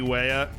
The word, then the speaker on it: Weah: We've got Timothy Weah. That's the correct pronunciation, by the way.